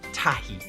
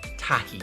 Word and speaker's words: tahi: Number 1 in Māori is tahi. So you say tahi. Say it out loud so you can make sure that you can pronounce that word correctly. Tahi.